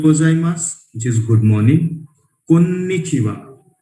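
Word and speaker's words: こんにちは: Konnichiwa. Pronunciation is konnichiwa.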